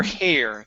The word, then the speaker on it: hair: and hair okay uh so instead of her hair okay it's her hair so it's an a her hair try that her hair